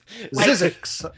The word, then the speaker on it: Zzyzx: and named z zix zix is like physics like physics the science but not at all